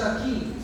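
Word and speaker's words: shaqed: In Hebrew, the word for almond is pronounced as shakib, sounds almost identical to the word for watching, alertness, and looking for.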